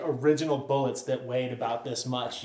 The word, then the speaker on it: Bullit: one was the heckler this one is the bullet you know what rhymes with bullet mullet guess what this bike